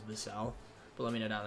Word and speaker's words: Vassell: I feel like some people say Vassell. You could say Vassell, but I'm pretty sure it's Vassell.